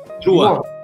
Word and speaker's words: Drouhin: Como é que se pronuncia o nome da família? É Drouhin.